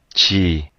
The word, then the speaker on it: 지: sino Korean pronunciation chi chi and here um I'm not going to sign in sorry yeah here the the what's romanized as a J J sound is harder uh than the English J sound.